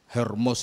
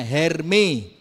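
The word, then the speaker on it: Hermès: mahal itu loh apa hermos di sini-si gak gitu bacanya hermi di rumah saya banyak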